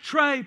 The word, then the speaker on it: Trey: the bench okay and my name actually rhymes with trait trade play and so I had a group fan base but they would yell out during the games let tray play let trip and